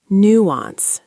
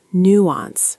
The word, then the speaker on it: nuance: Nuance. Nuance. Stress on the new.